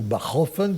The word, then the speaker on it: Bachofen: précisément le bâlois et johan jacobs bachofen ou baran fans se prononcer à l'allemande qui théorisent la gynéco